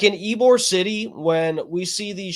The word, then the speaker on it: Ybor: And like in Ybor City, when we see these shows at the